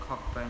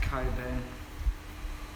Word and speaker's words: Cockburn: The other one I'm trying to find also, I call it Cockburn, but it's pronounced Coburn.